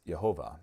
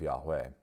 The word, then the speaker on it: Yahweh: Yahweh were YH wh were mistakenly pronounced as yehovah instead of Yahweh Adam Clark wrote in